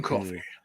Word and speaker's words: Coffey: John Coffey. Like the drink, but not spelled the same.